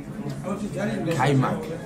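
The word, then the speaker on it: kajmak: Kaimak.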